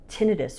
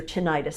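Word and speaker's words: tinnitus: It can help with tinitis or tinitis depending on your pronunciation.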